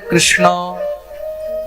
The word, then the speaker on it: কৃষ্ণ: তা সবাই শুদ্ধ উচ্চারণ করতে পারে কৃষ্ণ।